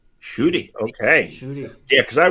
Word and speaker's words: Ncuti: Sorry, how do you pronounce his first name? Ncuti.